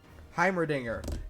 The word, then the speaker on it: Heimerdinger: it up in flint give me a second heimerdinger yes there's a scene where heimerdinger is talking